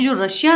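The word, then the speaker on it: Tsar: जार कहते हैं और स्पेलिंग होता है टी एस ए आर टी जो है यह साइलेंट होता है तो रशियन लैंग्वेज में इनको जार कहा जाता है और इनका नाम था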